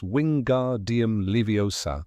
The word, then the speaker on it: Wingardium Leviosa: her early attempt at Wingardium Leviosa. In Philosopher's Stone, she corrects Ron on the pronunciation, insisting it's wingardium leiosa. Make the gar nice and long.